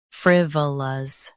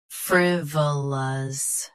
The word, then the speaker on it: frivolous: Frivolous, frivolous. Stress fr. Keep v soft and end with lus.